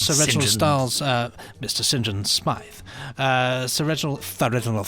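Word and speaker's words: St John Smythe: james uh said john smythe uh which is pronounced james sinjan smythe yes of course mr sinjan smythe um sinjin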